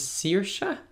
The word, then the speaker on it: Saoirse: I know the translation but I think the pronunciation is Saoirse so that's in other word Saoirse and it